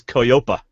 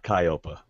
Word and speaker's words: Koyopa: so so he picks koyopa and he pronounces it okay yeah kyopa no it's e-o-y-o-p-a I don't know why